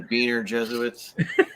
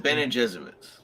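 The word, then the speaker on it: Bene Gesserit: Yeah, the Beaner Jesuits. They No, that's the name, dude. Why are you laughing? Is it? Is it really? Well, no, the proper pronunciation the is Bene Jesuits.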